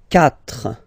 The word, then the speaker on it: quatre: Okay, so remember that even if you get this u vowel here, basically you don't pronounce it, because that's the rule in French. When we get this q letter and then a vowel after, then we will have to put this u.